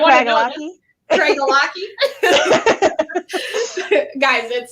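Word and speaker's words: Craigellachie: Craig Ellicky. Craig Ellicky. Yep, Craig Ellicky.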